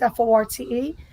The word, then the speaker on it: Forte: forte so but people pronounce it 40 because f-o-r-t-e the correct way is forte which forte means long